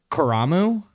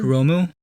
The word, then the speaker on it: Kuromu: know uh what's uh I can never remember how to pronounce his name. Kuramu, the other shield fighter. Kuromu. Yeah. Oh, that's a Kuromu.